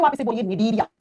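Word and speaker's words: Cnidaria: या तो आप इसे बोलिए निडरिया। देखो जब प्रोनाउंस करते है ना बेटा निडरिया सी जो होता है वो साइलेंट हो जाता है बेटा।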